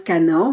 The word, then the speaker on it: Cana: À chaque fois, je prononce Canaan, mais non, c'est pas Canaan, c'est Cana.